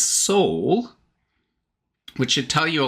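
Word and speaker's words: Sol: So he spells it S-O-L, but he pronounces this Soul, which should tell you a lot about the mental and emotional state that he's going through.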